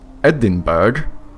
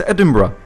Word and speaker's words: Edinburgh: another one is in Scotland right here Edinburg no it's not it's Edinburgh how why how I don't know but that's the way you say it like how how to